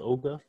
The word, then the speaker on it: ogr: pick this up there's this tool called ogr or auger i think it's pronounced ogre and there's his companion friend